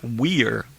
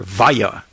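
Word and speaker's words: Weier: Okay, so it's Anissa Weir, or Vaya in German, and Morgan Geyser, same thing.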